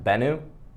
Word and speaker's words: Bennu: I think it's pronounced Bennu. It's pronounced Bennu.